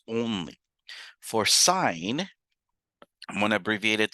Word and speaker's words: sine: I'm still going to call it sine. I'm not going to read it as sin. It is still pronounced sine.